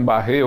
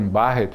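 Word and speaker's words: Barrett: que se pronuncia sim alguns dizem barrer outros dizem barret mas na na realidade qualquer qualquer uma das duas formas é válida mas Dr pata O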